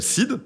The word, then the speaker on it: SEAD: et qui produit aujourd'hui euh une solution qui s'appelle SID. Donc ça s'écrit S E A D.